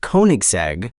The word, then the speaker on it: Koenigsegg: It's actually pronounced Koenigsegg.